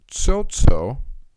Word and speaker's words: Tsotso: Philip Tsotso, that's how it's said, from Ontario in Canada, Canada, is suing for $70,000 and other costs after accusing the group of stealing his dreams.